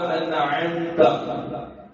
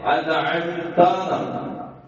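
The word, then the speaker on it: أنعمت: അതുപോലെ അൻഅംത, ആകാൻ പാടില്ല, ഉച്ചാരണം വളരെ ശ്രദ്ധിക്കേണ്ടതാണ്. പുറമെ അൻഅംത എന്ന് പറഞ്ഞാൽ നീ അനുഗ്രഹിച്ചവർ, അത് അൻഅംതു എന്നായി പോകരുത്, ഞാൻ അനുഗ്രഹിച്ചത് അർത്ഥമാകും.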